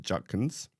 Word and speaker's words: Judkins: The first running back uh who will be part of Holly's Heroes this year is Quincon Judkins. Where's where's the T coming from in that pronunciation?